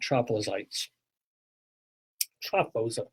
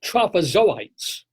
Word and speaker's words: trophozoites: sure it's amoeba and not trop as ites tropos no I'm sorry trophozoites forgive me forgive me to the trites like I've insulted by mispronouncing them the physician should therefore